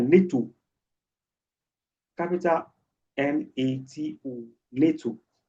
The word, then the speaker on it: NATO: But something like NATO, capital NATO, NATO, could be an acronym because it sounds like a word. You pronounce it as if it's a word.